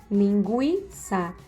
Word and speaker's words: linguiça: Vocês podem observar aí que esse U, quando nós falamos aguentar, bilíngue, linguiça, são pronunciados. Então, era usado esse sinalzinho em cima, que é o sinal de trema, para indicar que realmente essa vogalzinha aí, ela era pronunciada, certo?